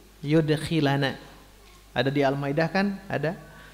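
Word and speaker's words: يدخلنا: Bacanya gitu ya, bukan yadkhulu, yudkhilana.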